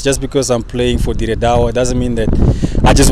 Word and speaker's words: Dire Dawa: Talking of which, you are based in Ethiopia as we speak, playing for Dire Dawa. Is that the right way to say the name anyway? Yeah, it is. Dire Dawa, Dire Dawa.